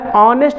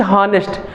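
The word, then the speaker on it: honest: जो पढ़ने का तरीका है ऑनेस्ट होता है, ना कि हॉनेस्ट।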